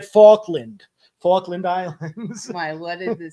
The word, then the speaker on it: Falkland: Penguins well you're gonna see it in the fauland islands I said fauland Falkland Islands my what is it sound oh the